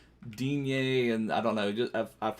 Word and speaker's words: Digne: Like sometimes you hear it like Dean, basically. Sometimes you hear it like Digne, and I don't know.